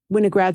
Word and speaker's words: Winograd: And I guess I've been pronouncing it wrong all this time. Winograd schemas, thank you.